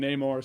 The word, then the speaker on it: Namor: but in the movie, some people call him Namor, some call him Namor.